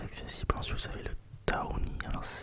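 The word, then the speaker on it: tawny: Ensuite vous avez le Taoni, alors ça s'écrit T-A-W-N-Y.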